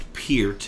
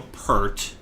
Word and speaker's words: Peart: like Neil Peart from Rush and it is pronounced appeared not Neil Peart that definitely thing that that drives me almost